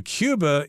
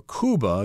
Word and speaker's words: Cuba: and we're traveling to Cuba in today's lesson or Kuba you could pronounce it either way this is an island